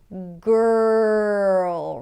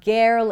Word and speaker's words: girl: So what happens here is that you're practically shifting from the consonant before the R to the R directly, skipping over the vowel sound.